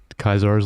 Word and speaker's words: Caesar's: Um, I believe episode three, another faction, Kaisar's Legion, which is how they actually pronounce it in the game. Not Caesar's le Legion.